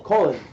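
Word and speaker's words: Kolin: Yeah, like Colin Powell. Colin.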